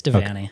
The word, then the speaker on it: Devanney: You pronounce your last name Devanney? Yeah, it's Devanney. Okay, got it.